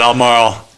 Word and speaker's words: Albemarle: like people It's almost like Marlboro, but different.